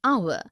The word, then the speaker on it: hour: Also an air, an honest, an hour because the words air, honest and hour begin with a vowel sound as the initial consonant h is not pronounced.